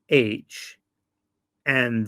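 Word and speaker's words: Khan: if I remember correctly the Han still has a K in it it's just not pronounced but the chingis is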